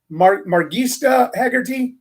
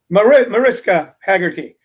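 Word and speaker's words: Mariska Hargitay: She goes on about, and I always pronounce her name wrong. Is it Margista Haggerty, Cheryl? Mariska Haggerty, who is, of course,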